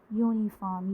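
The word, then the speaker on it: uniform: अभी हमने देखा था कि कभी कभी कुछ वर्ड्स में स्टार्टिंग में वॉवल लिखा होता है बट आवाज़ आ रही है कॉन्सोनेंट की, यूनिफॉर्म, यूनिवर्स।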